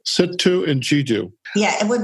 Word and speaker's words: Sittu: Sittu. Sittu and Jiddu.